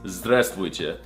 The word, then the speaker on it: здравствуйте: It's здравствуйте.